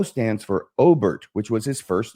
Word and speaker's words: Obert: The O stands for Obert, which was his first name, which is why he uses an initial. It's spelled Obert like Robert without the R.